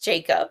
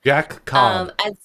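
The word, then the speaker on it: Jaccob: He's got the 2 C's, so I wonder Yes, if it that is pronounced still it is still just Jacob. Jack Cobb.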